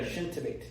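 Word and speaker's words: ሽንት ቤት: Shintbait. Huh? Shint? Bait. Yeah.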